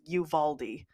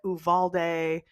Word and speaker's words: Uvalde: seen people say like Uvalde Uvalde and it's like I know it looks like it's supposed to be pronounced Uvalde but it's Uvaldi and I've been seeing